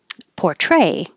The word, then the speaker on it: portray: Um, Portray, the verb has stress on the second syllable. Portray.